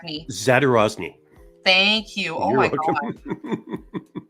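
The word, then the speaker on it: Zadorozny: I'm going to say his last name wrong, so please correct me. Zadarozny.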